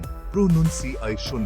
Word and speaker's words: pronunciation: प्रोनाउंसिएशन, सही उच्चारण प्रोनुंसिएशन है। इसे सही तरीके से बोलने के लिए नन ध्वनि का अलग से अभ्यास करें।